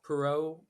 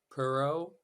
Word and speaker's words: Porot: have a Twitter at Perot underscore I have Instagram CM pero and pero is spelled p-o-r-o-t you are welcome to pronounce it uh in the French or the English way I'm a dual citizen